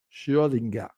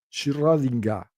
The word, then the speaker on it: Schrödinger: ¿Han visto cómo lo pronunció? Schrödinger. Schrödinger. Eso es porque ich spreche Deutsch.